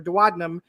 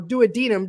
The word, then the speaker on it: duodenum: of your stomach is your duodenum uh or duodenum depending on who you ask how to pronounce it but it was so